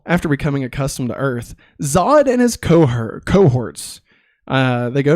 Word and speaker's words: Zod: And Zod goes, it's pronounced Zod.